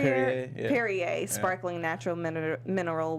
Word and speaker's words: Perrier: How do you pronounce that? Perrier. Perrier, yeah.